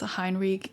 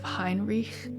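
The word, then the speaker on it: Hinrigh: And that would be something along the lines of Hinrich with a guttural r.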